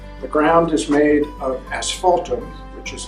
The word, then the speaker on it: asphaltum: The ground is made of asphaltum, which is like tar. That's why it sounds like the word asphalt.